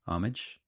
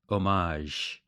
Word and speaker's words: homage: homage did you know there's three different ways to say the word homage maybe you think I'm saying it wrong there's a French way omage there's a British way homage and then there's an American Way homage you're welcome you got